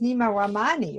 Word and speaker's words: Nima Rahmany: your whole name is not really nima it's nima ramani right perfect perfect pronunciation oh thank you with a little bit